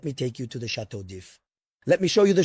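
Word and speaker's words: Château d'If: Of course, we call it Chateau d'If. The D at the beginning is not pronounced.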